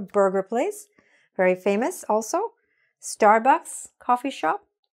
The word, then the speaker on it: Starbucks: You should hear the S at the end. All right? So that's what was wrong here. So all you have to do to fix the name of those particular restaurants, just make sure you're saying the S.